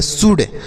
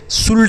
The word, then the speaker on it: should: ठीक है बच्चों, आगे अगला शब्द है SHOULD, इसे हम पढ़ेंगे शुड। शुल्ड नहीं पढ़ेंगे, यहाँ पर जो यल लिखा गया बच्चों यह साइलेंट है, इसका उच्चारण नहीं करेंगे, इसे हम शुड पढ़ेंगे।